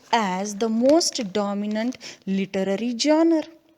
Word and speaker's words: genre: So today, novel is recognized as the most dominant literary genre. See the word genre, G-E-N-R-E. Some people pronounce it as genre also.